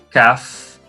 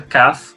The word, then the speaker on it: Kaf: E aqui nós temos a letra Kaf com dagesh, que sem dagesh ela vai ter a mesma pronúncia da letra Het, vai ser H.